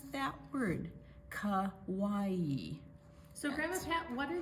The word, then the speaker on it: Kauai: Salt from Kauai preserves ancient ways.